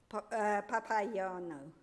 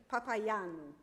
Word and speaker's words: Papaioannou: And today, Marcus is going to talk to us about Dimitris Papaioannou. I've pronounced that incorrectly. Papaioannou, yeah.